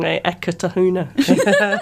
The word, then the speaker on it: Eketahuna: It just rolls off the tongue, Eketahuna. And is that the correct way to pronounce it?